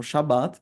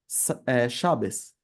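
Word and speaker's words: שבת: sábado, seja pronunciado como Shabat para um judeu sefardita, mas para um judeu ashkenazi seja Shabes. Então o T vai virar um S e as vogais também são diferentes.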